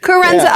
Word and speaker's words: Coerenza: I'm not sure how to pronounce it, so I won't botch it. What is it? Yeah. Carenza Approach.